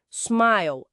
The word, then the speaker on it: smile: Smile. Aqui o I é longo, sorrir.